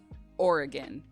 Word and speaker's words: Oregon: Sorry, it's Oregon. The state is Oregon.